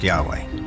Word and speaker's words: Yahweh: According to one account, Abraham knew God by his intimate personal name, conventionally pronounced Yahweh.